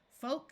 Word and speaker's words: folk: the p is silent two words follow this pattern with a long o and a silent L folk and yoke and two more common